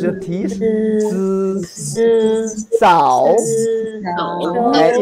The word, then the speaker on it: 走: Zao. Zao. Zao. It's not a zhao.